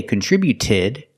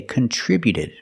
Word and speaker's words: contributed: We see with contributed, the t before the ed is between vowels, so it's a fast d. We don't say contributed, we say contributed.